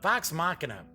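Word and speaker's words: Vox Machina: Mack you know what am I thinking uh box machina yeah yeah at least say I'm now pronouncing that correctly pike trick foot the gnome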